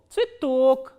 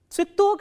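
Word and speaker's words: цветок: The next word is ts, v, ye, t, o, k, and the stress is on o.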